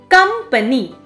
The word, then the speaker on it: company: syllable receives stress here company here the first syllable is emphasized kampani x port finally